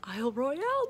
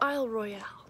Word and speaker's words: Isle Royale: and today is the day i'm going to isle royale national park very excited about that and i know that most people pronounce it isle royal but that neither makes sense nor sounds good so it's isle royale that's how it's spelled um but i'm gonna